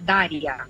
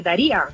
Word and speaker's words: Daria: bueno como bien dices mi nombre se pronuncia daria pero aquí todo el mundo me dice daría porque Bueno yo soy